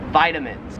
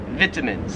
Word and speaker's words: vitamins: Some people in Australia, I don't know why, but they pronounce it vitamins. No, it can't be, it's not vitamins. That just sounds so wrong.